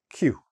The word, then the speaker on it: queue: Q, very simple, just like the letter Q.